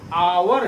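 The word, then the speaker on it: hour: लगा रहे हैं क्योंकि उसका प्रोनॉन्सिएशन अवर है ए से आता है तो हम लोग उसके पहले एन लगा रहे हैं यहां पहले लेटर से शुरू हो रहा है लेकिन हम लोग जब इसको प्रोनाउंस करते हैं तो एक साइलेंट हो जाता है हॉस्पिटल होता है इसीलिए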